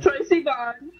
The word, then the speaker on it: Troye Sivan: I got, Troy Sivan.